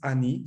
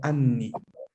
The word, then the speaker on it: anni: Es muy curioso porque la palabra, la lectura correcta de la palabra, no es ani, sino anni. Anni. ¿Vale? ¿Qué sucede cuando no pronunciamos la doble N?